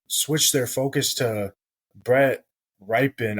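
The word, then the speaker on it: Rypien: their focus to Brett ripen I don't really know how to say his last name it's r y p i n Brett ripen that sounds about right honestly I don't quite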